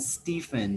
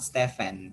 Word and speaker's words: Stephen: this one is michael and stephen not stefan stephen yeah there are certain